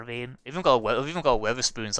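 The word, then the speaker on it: Wetherspoons: I'll have to definitely it's called Weatherspoons. It's how I say it's how my accent works, but it's called Weatherspoons. It's spelled as Wether spoons.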